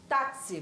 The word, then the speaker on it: táxi: como difono é porque esse x aí tem um som de KS Coca tá esse Olha você aí com a gente vai lá vamos fazer exercícios táxi pronuncia e tem de